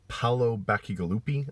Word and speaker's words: Paolo Bacigalupi: it after that was tool of war by Paolo Bacigalupi I think I pronounced his name right I really enjoyed it